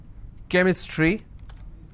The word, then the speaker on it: chemistry: sound for example change but when i have the word chemistry ch becomes cur sound so i say chemistry